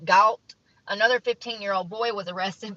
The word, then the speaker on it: Galt: In Galt, it's spelled like salt, but with a G, Galt.